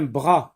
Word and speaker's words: bras: Un bras. Bras. Mot qui se compose d'une seule syllabe. La lettre S est une lettre muette, mais il ne faut pas oublier de l'écrire aussi.